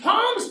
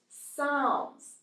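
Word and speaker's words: Psalms: the this is the palms tree oh you know it's actually pronounced sounds it's not a tree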